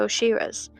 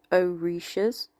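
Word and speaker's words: orishas: order to communicate and stay connected with their oshiras. This is Sophie from the future is pronounced oishas.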